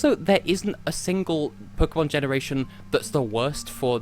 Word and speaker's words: Pokémon: of the Warmness Pokémon Pokémon and Pokémon not Pokemon honestly like in terms